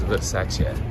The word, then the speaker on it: Versace: And then over here we have, you know, the proper way to say Versace is Versace.